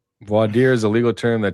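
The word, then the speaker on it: voir dire: How does the judge not know how to pronounce I don't even know how to pronounce that. Vader clown word it's vadier.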